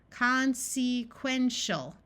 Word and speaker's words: consequential: So this syllable, we will try the long vowel sound first. Consequential. That doesn't sound quite right, so we will switch from a long vowel to a short vowel. Consequential, consequential. Right here, I notice the